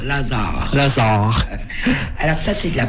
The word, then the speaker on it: Lazare: on va pouvoir voir l'autre groupe qui est Lazare, c'est comme ça qu'on prononce. Oui, tout à fait, avec deux R, avec un Z et deux R. Lazare.